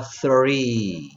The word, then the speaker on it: three: th 혀를 살짝 무는 흉내라도 냄새. three. 그렇죠. th는 혀를 살짝 물면서 뭐, th 됐고, r은, r 됐고, 이, 이는 뭐가 되던가요? 그렇지. 그러니까 three. 발음이 좀 어렵죠? three. 오케이. three. 혀를 살짝 물면 돼요.